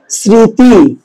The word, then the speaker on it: স্মৃতি: দেখেন তো পরবর্তী শব্দ কি, মটা কি শব্দের শুরুতে আছে না, তাহলে এই মটা কি উচ্চারণ হবে না, হবে না, যার সাথে থাকবে তাই কি করবে, নাসিক্য করবে, তাই এটার উচ্চারণ হবে স্মৃতি। তাহলে এবার দেখেন শব্দের মাঝে